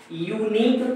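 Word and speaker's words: unique: अब जरा ध्यान से देखें कि यह जो है यू है, यू का जो उच्चारण है, प्रोनंसिएशन है, यह वॉवेल है कि कॉन्सोनेंट है, तो यह सीधे क्या है, वॉवेल नहीं है, कॉन्सोनेंट है, तो इसलिए हम इसके पहले क्या लगाएंगे, और लगाएंगे।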